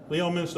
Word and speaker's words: Leominster: Leominster, it's Leominster, but it's spelled Leominster, so you were close.